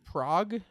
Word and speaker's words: New Prague: Prague. Okay. So, yeah, but like Prague. It's New Prague in Minnesota. I'm not kidding. My My grandparents are from New Prague, Minnesota.